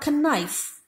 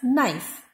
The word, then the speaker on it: knife: of k-n-o-w is no k is silent in the beginning initial position knife it is not connive it is knife our it is not